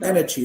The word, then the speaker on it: energy: so so that's why when i pronounce it i stretch it a bit like energy it's not energy it's energy i stretch the ah a bit because it's the strongest syllable it's a strongest one